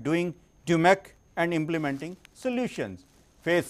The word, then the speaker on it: DMAIC: The spellings are DMAIC and the pronunciation is DMAIC.